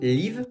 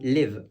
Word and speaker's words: live: Si vous prononcez ce mot live, vous le dites mal. Ce mot, il va se prononcer live.